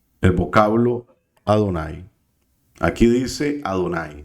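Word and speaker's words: אדני: Aquí dice Adonai. Tenemos la Aleph con una A. La Aleph es muda y solo decimos la A.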